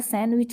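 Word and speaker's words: sandwich: होता है सैंडविच तो इसे सैंडविच कहते हैं डी साइलेंट रहता है ठीक 35 चच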